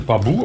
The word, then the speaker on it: Babboe: Babu, wie wir gelernt haben, heißt es Babu ausgesprochen, nicht Curve, aber ein Babu E-Bike Vorderrad.